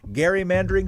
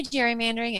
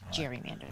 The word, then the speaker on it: gerrymandering: democracy how we can fix the electoral college gary mandering she might say gerrymandering and our elections welcome